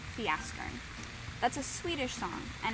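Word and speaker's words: Fjäskern: The song that we're going to use today is a song called Fiaskern. That's a Swedish song, and it's spelled kind of funny. It's spelled like this. The FJ sound makes a Y sound, which reminds me of a joke that I heard one time.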